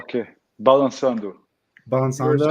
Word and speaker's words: Balançando: Actually, it's not like a C. It's like a cedille. Okay. So cedille pronounced like 2 S's, SS. Balançando, which means like grooving, moving.